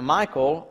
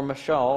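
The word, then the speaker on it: Michal: as a wife now Michael or Michelle I've heard it pronounced different ways Saul's daughter loved David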